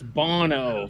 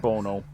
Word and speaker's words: Bono: It's Bono, for Christ's sake. It's Boner, right? It's Bono.